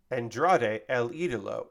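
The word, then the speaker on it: Andrade El Ídolo: versus Andrade El idolo Andrade El idolo is how you say the name Kevin Kelly really [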